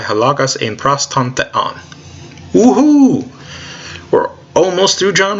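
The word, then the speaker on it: θεόν: First syllable, fe. Second syllable, on. Put it together. Theon.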